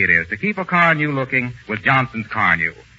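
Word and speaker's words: Carnu: I wish everybody knew how easy it is to keep a car new looking with Johnson's Car New.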